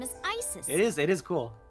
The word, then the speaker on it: Isis: accounts just dance about asap horse's mom is named isis but in ancient egyptian it's pronounced closer to isa or asa uh-huh hmm how do